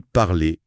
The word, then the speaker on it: parler: Il parle beaucoup des lettres finales muettes. Ah oui, ça c'est majeur en français. Ça change tout pour la fluidité. Le guide donne des exemples. Oui, il cite parler qui se dit parler, chat qui devient chat.